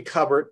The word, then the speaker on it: Cubert: Well, it's actually Cubert, but we answer to lots of things.